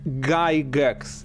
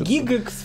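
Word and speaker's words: Gygax: Гайгекс. Гайгекс, да. Поскольку я все время вижу его имя в написании, все время, да, я довольно редко слышу, если как оно произносится. Если ты скажешь Гигекс, все тебя поймут. Да, вот.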